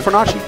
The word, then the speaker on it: Fornace: It's a weird pronunciation. It's Fornace. That's not right at all. Yes, it is. Versace, Fornace.